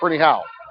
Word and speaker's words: Ferniehow: Rebounds, it's Abby Ferniehow, and that's how it's pronounced. Ferniehow. I wrote it down, the enunciation. It's Ferniehow.